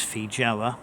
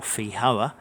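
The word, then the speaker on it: feijoa: Anna there's also no there's fee Java or fee Hauer depending on which part of the world you're from as some countries seem to use a soft J as in the Spanish pronunciation now I've put in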